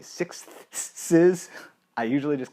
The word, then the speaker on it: sixths: and either pentatonic moves or sixes, or to be pronounced properly, sixths.